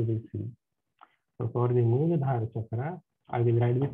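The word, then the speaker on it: Muladhara: So A is silent. I told you yesterday also, A is silent.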